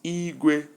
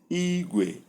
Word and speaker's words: igwe: Number 16, we look at the word igwe. 3 words are available by their sounds for consideration. Number 1, high, high. And the sound is igwe, cloud, igwe. Number 2, we have high, low. And the sound is igwe, iron. Number 3, and the sound is low, low. We pronounce it as igwe, crowd.